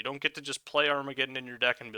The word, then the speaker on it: Armageddon: Armageddon. It's actually pronounced Armageddon.